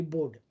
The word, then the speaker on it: Bode: In a Bode plot, okay, now this is pronounced as Bode. Some people say Bode, some people say Bode. It's actually Bode.